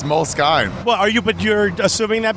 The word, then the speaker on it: Moleskine: notebooks, these Moleskine ones.